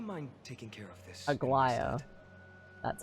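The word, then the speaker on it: Aglaea: Aglia, would you mind taking care of this Agia? That's how it's pronounced.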